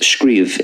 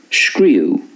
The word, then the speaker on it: scríobh: by the way, scríobh, it's pronounced scríobh in Munster and Connacht, generally speaking, but in Ulster, scríú. Scríú. Next we have greenver, which is the Irish for sunny.